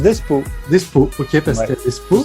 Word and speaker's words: Despeaux: Despo, comment ça se prononce ? Ça se prononce Despo.